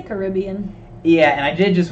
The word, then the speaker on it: Caribbean: Somebody was saying, is it Caribbean or Caribbean? Like, how do you pronounce it? I say Caribbean.